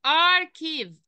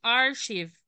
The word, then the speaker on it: archive: يبقى نطقتهم، نطقتهم ان هما الاتنين السي اتش مع بعض، هنا نطقتهم حرف الايه؟ حرف الكي. تمام. يبقى خلي بالك عشان هي ما اسمهاش ارشيف، ناس كتير جدا، عشان